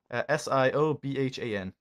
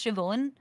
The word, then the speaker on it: Siobhan: to you how I spelled it right here s i o b h an D you did it yes I did I know how pronounce Siobhan can you teach those [ __